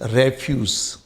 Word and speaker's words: refuse: जब इसको आप नाउन के रूप में यूज करें तो इसका प्रोनाउंसिएशन पे ध्यान दीजिए, दिस इज रेफ्यूज, रेफ्यूज। लेकिन जब आप इसको वर्ब के रूप में यूज करें तो ध्यान दीजिए, इट्स प्रोनाउंसिएशन इज रिफ्यूज, मना कर देना।